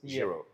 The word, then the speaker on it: Giro: the Jiro Italia so think about the Jiro Italia and that's a best way to pronounce it jro okay so there you